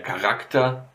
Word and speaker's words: Charakter: So yeah, der Charakter, the character. Der Choleriker, a choleric person, yeah. And das Chaos, the chaos, of course. So, well, these words have a K for pronouncing them.